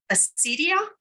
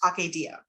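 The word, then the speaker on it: acedia: And um the poem is called depending on how you pronounce it, it's called Acidia or as my Greek scholar friend tells me it's pronounced Aadia.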